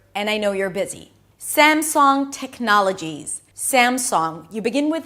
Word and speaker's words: Samsung: Notice that I don't pronounce a G sound at the end, even though it's spelled with a G, but I'm pronouncing an